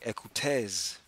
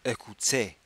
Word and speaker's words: écoutez: If you were reading it as if it were English, you would say écoutez. But because you know French, you pronounce it écoutez.